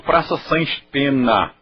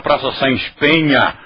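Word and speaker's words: Saens Peña: sem espen mas todo mundo nesta útima está pronunciando Praça S pena Ai que feio que cultura vocês não estão vendo queha quando eu era menino todo mundo pronunciava Praça S Penha como foi que nós perdemos a cultura assim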